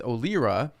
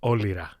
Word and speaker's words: Olyra: Most people know it as Olyra, but you pronounce it, and the correct pronunciation is Olyra.